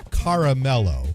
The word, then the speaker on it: caramel: Now, the only time I would ever pronounce it more than two syllables is now the candy bar is caramello because that's how the jingle goes. Stretch it out, caramello. Ooh, but otherwise, it's caramel.